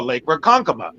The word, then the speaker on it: Ronkonkoma: from there, you have no idea how to pronounce. Like, like you learn how to say it like, oh, Lake Ronkonkoma.